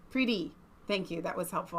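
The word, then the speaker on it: Priti: I get it she's pretty that's how it's pronounced pretty thank you that was helpful I missed that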